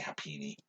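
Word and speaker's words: Happiny: say hi penny yeah i say happines i don't know why what i said why uh uh i think that's the japanese name happiness because i think it ends in an eye maybe um uh anyway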